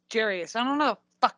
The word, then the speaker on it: Gary: your name is Gary, but it's pronounced Jerry, so I don't know what the fuck is going on.